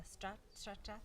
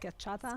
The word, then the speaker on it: schiacciata: And I'd love for her to tell us about the stracciata. How do you say it? schiacciata.